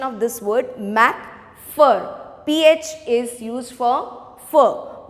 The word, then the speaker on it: McPherson: is connie okay now uh just see the pronunciation of this word mac fur ph is used for for my first sin